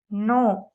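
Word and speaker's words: know: हुआ हैड रखा हुआ नो जानना नो जानना न्यू जाना नाउन जाना हुआ नो न्यू नोन के साइलेंट है गेट हासिल करना गेट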